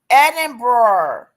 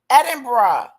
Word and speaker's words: Edinburgh: Edinburgh. Edinburgh.